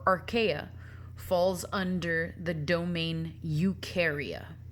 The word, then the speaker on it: Eukarya: falls under the domain Eukarya Eukarya are where all eukaryotes are found you rhymes with do so eukaryotic organisms do